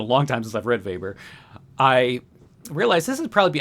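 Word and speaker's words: Weber: also wrot in economics Max vber and vber is spelled with a W uh the protest ethic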